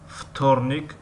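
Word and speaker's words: вторник: و در کلمه وتورنیک یعنی سه شنبه، وتورنیک می نویسیم و فتورنیک می خوانیم.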